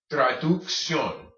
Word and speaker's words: traducción: So when you see these together, you're going to make your K sound first, then your S sound. Traducción.